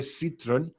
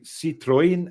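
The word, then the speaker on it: Citroën: with ads for years we happily say a Citron Citron and Ikea uh then suddenly they spring Citroen and here uh the latest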